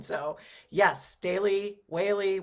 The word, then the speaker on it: Wehle: like the the daily whaley right exactly that's it took me a long time to figure out that's the shortcut to proper pronunciation so yes daley whaley whaley daily it rhymes so kim whaley who